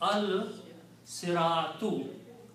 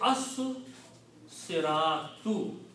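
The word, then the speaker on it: الصِّرَاطُ: So when you put al, two dhammas change into one, and this becomes al siratu. Also, the swad here kills the sound of lam, and you have to pronounce the swad twice because this is a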